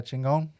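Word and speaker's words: Chingón: Yeah, Chingon and. Is that how you pronounce it? That's his band. Yeah, Chingon. Chingon.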